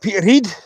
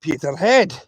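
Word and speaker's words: Peterhead: We got Freezer, uh, got Peter Heed. See, people call Peter Head. It's Peter Heed. Peter Heed.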